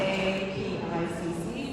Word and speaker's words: APICC: Um there is a APIC pronounced as API.